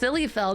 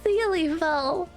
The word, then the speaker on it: Syliefel: It's pronounced Sillyfell. No, it's Sealyfell.